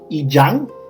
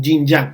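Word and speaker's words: 阴阳: vamos a hablar de la pronunciación es y yang la pronunciación en chino se dice guillén ya que ya ya no se pronuncia jim a que es una mala pronunciación es una priorización que está mal y muchos extranjeros generalmente dicen jean-jacques pero está mal ya me debería ser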